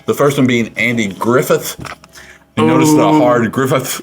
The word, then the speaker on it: Griffith: said Griffith and I said it's Andy Griffin I thought I sore is Andy Griffin I've heard it in my entire life and he was like no it's Griffith and then he later